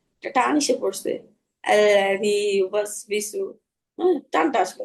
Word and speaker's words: يوسوس: ইউওয়াসবিসু। হুম, নষ্ট করতে থাকেন আপু, পরি আপু। জি আপু, আরেকবার বলি। الذي يوسوس في صدور. ইউবাসু এইভাবে হবে না। আল্লাযী ইউওয়াসবিসু।